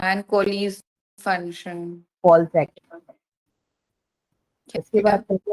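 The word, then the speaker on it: COALESCE: Call सेक। इसकी क्या? बात करते हो, हाँ, क्या है ना? बोलते हैं सर? इसको कोलीज, कॉल सेक चलिए।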